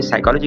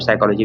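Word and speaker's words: psychology: तो जैसे कि नाइफ की एग्जांपल देखें, ब्रिज की एग्जांपल देखें, साइकोलॉजी एग्जांपल देखें। अब तीनों में नाइफ में के साइलेंट है, ब्रिज में डी साइलेंट है और साइकोलॉजी में पी साइलेंट है।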